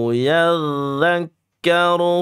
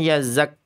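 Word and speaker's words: يَذَّكَّرُ: Nah, ini kebanyakan ada yang bacanya yazak. Yadzakkaru yadzakkaru dza. Kalau kita bicara huruf dalal dia satu makhraj dengan tsa sama d tsa, dza d.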